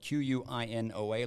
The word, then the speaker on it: quinoa: not familiar with it it's spelled q-u-i-n-o-a looks like quinoa it is almost perfect